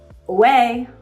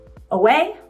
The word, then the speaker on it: Ouai: Away. Away. We with an a in it.